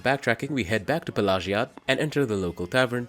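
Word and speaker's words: Pelagiad: along the road past pagad yes that is how it's pronounced I had to ch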